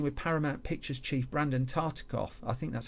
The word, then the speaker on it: Tartikoff: took a meeting with Paramount Pictures chief Brandon Tartikoff, I think that's how you pronounce his name, and while Newfield was away,